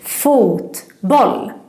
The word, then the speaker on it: fotboll: So the stress is more in the consonants. Boll. So again, fotboll.